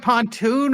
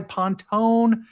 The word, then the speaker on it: Pontone: It looks like Pontoon. I go by Pontone.